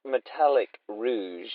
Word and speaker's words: Metallic Rouge: Rogue all right uh I think it's pronounced metallic Rouge Rouge Rouge Rog I'm thinking